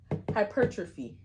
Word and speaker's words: hypertrophy: These words, um, you know, are hypertrophy. Hypertrophy. Yeah, hypertrophy. H Y P E R C H A P H Y. M. No, it's it's like hyper trophy.